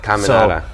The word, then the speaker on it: Caminata: Caminata. So in football, they had a cheer that they made just for me. It was Caminata, nowhere. So really? that's how you can remember how to pronounce it.